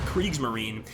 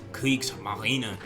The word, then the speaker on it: Kriegsmarine: And some of you guys might hate the way I say that, but that's actually the correct pronunciation. It's not Kriegsmarine, it's Kriegsmarine.